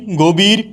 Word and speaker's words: গভীর: উচ্চারণ হয়ে যাচ্ছে অধীন গভীরের উচ্চারণ হয়ে যাচ্ছে গোভীর মনীষার উচ্চারণ হয়ে যাচ্ছে